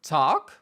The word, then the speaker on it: talk: nous apprend à l'école les mots en LK où le L est muet comme dans talk walk et la liste est